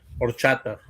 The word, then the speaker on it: horchata: Is it pronounced horchata or cheta? Horchata. Horchata. Right.